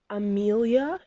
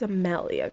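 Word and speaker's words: Amalia: up on my channel they're going to think it's Amelia it's not aelia it's a malalia guys cuz I have an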